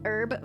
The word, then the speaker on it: herb: Take herb for example. They think that the H is silent. Anyone that says herb sounds moronic to people in the US.